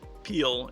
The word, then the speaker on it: pile: at the battery pile pronounced peel in French but gasped Volta is